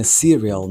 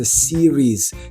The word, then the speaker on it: series: Ви вже, мабуть, знаєте, що серіал - це не serial, не пластівці. Це типу serious. Але що там за вимова має бути? А це series.